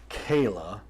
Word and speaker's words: Chela: Kayla, I know it's spelled Chela. Yes. But it's said Kayla, and I had to figure that out.